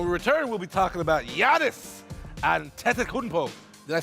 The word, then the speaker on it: Giannis Antetokounmpo: But when we return, we'll be talking about Giannis Antetokounmpo.